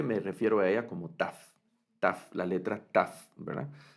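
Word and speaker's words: ת: Algunos se refieren a ella como tau, otros como tab por las posibles variantes de pronunciación de la letra, pero yo en el curso me voy a referir a ella más como una letra taf, una letra taf.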